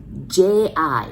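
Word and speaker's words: ぢ: The second one, you really want to pronounce D, I, D, but we really pronounce J, I, G.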